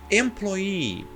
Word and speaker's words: employee: E aqui você fala, nossa, mas essa palavra termina com E, você falou que não pronuncia. Se você voltar ao vídeo, eu falei 99,9. Por quê? Toda regra tem sua exceção. E essa regra aqui, essa palavra aqui, ela não só termina com E, ela termina com 2 Es.